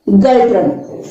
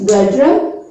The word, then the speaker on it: Ngultrum: The currency of Bhutan is Gultram. Actually, the spelling of Gultram is Ngultrum. Here this N is silent. So the currency of Bhutan is Gultram.